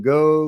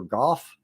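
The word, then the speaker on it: Gough: comments uh Pentagon spokesperson Susan go or golf I've heard it may be golf is that correct that it rhymes with cough uh provided a more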